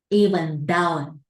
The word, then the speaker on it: even though: Even though, not told, no. This is th, that, all right, gắn lửa đó, even though, right?